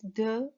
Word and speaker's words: the: the and the so when T is used before a consonant we pronounce it as the and if it is used before vowel word or vowel sound so we pronounce it the by using the article